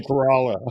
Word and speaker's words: Corolla: correct you for sure you say Corolla I say corala I got it totally